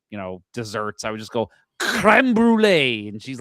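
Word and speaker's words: crème brûlée: I don't believe you're pronouncing that right. I believe syrupy. It's creme brulee.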